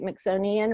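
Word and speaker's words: Mixonian: with Sony and Institute mix own Ian rhymes with Smithsonian is my first business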